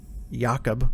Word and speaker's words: Jakob: she wants to get Jakob, right? That's how you pronounce it correctly.